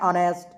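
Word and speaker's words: honest: ऐसे कुछ ऐसे वर्ड आएंगे जिसके पहले एच रहता है, लेकिन एच हमारा साइलेंट होता है, इसका उच्चारण होता है ऑनेस्ट, और जैसे ऑड, ये सब हमारा।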